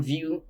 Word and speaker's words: Vue: Vue.js, pronounced Vue, like Vue, is a popular JavaScript framework for building modern and interactive web interface.